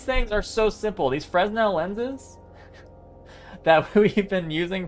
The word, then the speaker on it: Fresnel: Yeah, I know the S is silent in Fresnel.